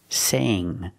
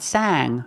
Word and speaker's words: sang: Use the long A sound. Sang. Not sang, but sang. When you have A-N-G together, pronounce the A with a long A sound.